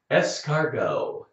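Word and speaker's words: escargot: them the French word escargo that's what we say in America too we picked up the French word if you're going to eat a snail in a restaurant we would say say es cargo snail SN SN SN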